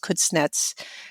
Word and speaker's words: Kuznets: And in fact, the person who had one of the most significant hands in creating it, Simon, I think his last name is pronounced Kuznets, said that one of